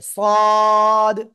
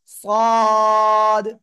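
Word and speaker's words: ص: এ অক্ষরের নাম কি মোটা আওয়াজে পড়তে হবে সদ সদ চার আলিফ টান হবে জিহ্বার আগা সামনে নিচে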